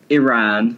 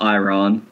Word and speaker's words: Iran: Iran, not Iran, and Morocco, not Morocco.